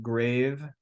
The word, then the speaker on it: grave: another Omicron with a grav accent it looks the just so you know that accent is spelled like grave but it's pronounced grav so a grav accent